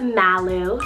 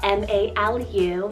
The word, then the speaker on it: Malu: list, or any other edgy 1 to 2 syllable names for girls that you have. Moving on, next up we have Malu, spelled M-A-L-U, Malu.